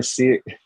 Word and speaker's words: Cyr: uh this is Miss this is Miss Taylor see it it's here did I pronounce it right you did you nailed it